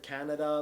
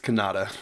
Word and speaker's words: Kannada: I was told it's pronounced Kannada, but some people have said Canada. Like, what is it? Kerala, capital. It's Kannada.